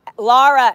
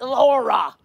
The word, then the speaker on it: Lara: Lara FM. Lara. Lara, not Laura. They laughed.